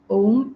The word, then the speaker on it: Om: Om is 3 syllables coming together. Om. And the way to chant is to take a nice deep breath in, and as you breathe out, you will chant O and till midpoint, beyond which you will